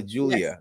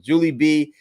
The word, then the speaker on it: Julie B: I said her name wrong, so let me make sure I pronounce Julie B. I called her Julia before, and I was wrong. Julie B, whose news channel is about to drop their first video.